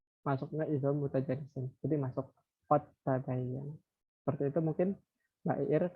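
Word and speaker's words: قد تبين: Dal itu kan harusnya qalqalah ya, qad gitu. Nah, kan tetapi karena di sini ada huruf ta yang makharijulnya itu sama keluarnya kayak gitu ya. Jadi bacanya qad tabayyan. Jadi huruf qafnya itu masuk ke huruf ta seperti itu karena masuk ke dalam idgham mutajanisen, dua jenis yang sama.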